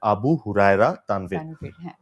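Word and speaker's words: আবু হুরায়রা তানভীর: আপনি আমাকে শুরুর আগে বলছিলেন যে মানে আমার নামটা আমার নামের এক্স্যাক্ট প্রনান্সিয়েশন হচ্ছে আবু হুরায়রা তানভর।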